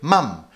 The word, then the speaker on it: mum: By the way, in the UK, we say mum, but in the USA, they say mom.